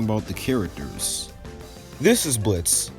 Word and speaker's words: Blitzo: This is Blitz, even though his name has an O in it like Blitzo, but the O is silent.